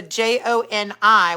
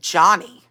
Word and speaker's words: Joni: Ryan that's really pretty I knew somebody who was a j-o-n-i which I always thought was Joni they pronounced it Johnny okay Charlene Charlie where'd